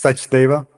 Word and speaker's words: Sachdeva: Welcome, It's Sachdeva. Sachdeva. Okay, I'm sure you've heard so many pronunciations, it's not even funny, but we appreciate you coming on.